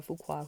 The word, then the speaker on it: Fuqua: Okay, so Harvey Fuqua is the uncle to Antoine Fuqua who's married to Lela Rochon, and Antoine is the director of the new Michael Jackson movie.